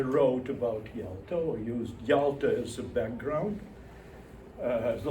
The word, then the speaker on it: Yalta: They are, and Nabokov again hints at that they are connected to a Russian sea resort, Yalta, Y-A-L-T-A, Yalta, where Nabokov spent his last years of living in Russia when they fled Petersburg, right?